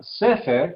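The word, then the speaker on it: ספר: En la palabra sefer que miramos, el énfasis cae en la primera sílaba. Sefer, sefer.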